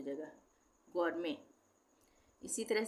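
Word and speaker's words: gourmet: जी ओ यू आर एम ई टी गरमे। इसको हम गर्मेट नहीं पढ़ेंगे। टी साइलेंट हो जाएगा। गरमे इसी तरह से ये है रेपोर।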